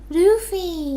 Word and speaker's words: Luffy: Luffy. Oh, because it's Japanese, so Luffy.